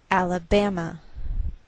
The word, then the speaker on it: Alabama: So the greater stress is on this third syllable. We say Alabama.